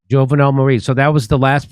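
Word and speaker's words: Jovenel Moïse: Jovenel Moise. Jovenel Moise.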